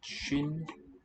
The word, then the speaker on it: 쉰: And SWIN pronounced shin means 50. So the S is common in a sense. It comes out differently. S here versus sh. Shin like this.